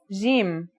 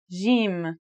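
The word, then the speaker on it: جيم: in standard arabic and syrian arabic it should sound like the j in the word jam while in egyptian arabic it sounds like the g in the word game they're both quite easy to pronounce though now let's handwrite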